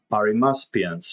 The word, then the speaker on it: Arimaspians: the one-eyed, so let's see if we can pronounce this correctly. It's Arimaspians.